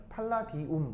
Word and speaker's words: 팔라디움: 팔라디움이 제일 유명합니다 아시겠죠 읽을 때 뭐라고 읽는다고라 팔라디움 아시겠죠 팔라디움 그러면 최종적으로